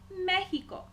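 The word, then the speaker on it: México: appears in the word Mexico notes extra the X sounds like an English X in Mexico it sounds like hota and finally we have seta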